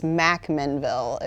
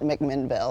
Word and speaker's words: McMinnville: And you pronounced it correct. It's McMinnville if you're a local, not McMinnville.